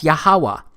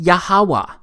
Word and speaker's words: Yahuwah: simple back then that it vocalized each consonant with an AA sound without specifically marking that sound between consonants so this yhw H it's pronounced yahuwah it also turns out